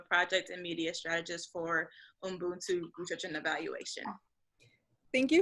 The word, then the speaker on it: Ubuntu: And I apologize if I mispronounce that, but I believe it's Ubuntu. Ubuntu.